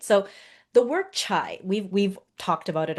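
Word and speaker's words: 茶: China, so in the Chinese languages, T is pronounced as cha.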